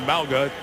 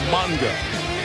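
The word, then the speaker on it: Mauga: Used to be Mala. Changed the pronunciation. It's now Monga.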